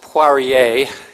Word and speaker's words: Poirier: It's actually pronounced Poirier. It's French, as you might guess.